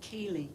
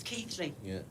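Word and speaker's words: Keighley: I first came over I used to call Keely before I realized it was Keithley he comes in now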